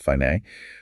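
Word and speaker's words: Φ: Which is represented by the symbol I, pronounced fine.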